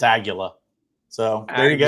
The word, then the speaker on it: Aguila: It's Aguila. Nice. It's Aguila. Aguila. I thought it was Aguila, but it's Aguila.